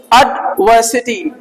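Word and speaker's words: adversity: आएंगी ये क्या है एडवर्सिटी आर साइलेंट रहेगा ठीक है ना अड व सिटी व ऊपर जाएगा अड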